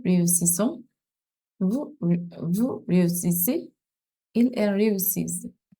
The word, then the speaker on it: réussissent: Il, elle réussissent. So here is a double S all the way. So S, there's no Z.